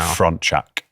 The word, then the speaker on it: Frontczak: Your second name, can you pronounce it for me? And Frontczak.